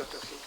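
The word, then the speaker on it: Ostojić: Sí, realmente Ostojic se pronuncia, Ostojic es mi apellido y soy sí, hijo de inmigrantes directos de Yugoslavia.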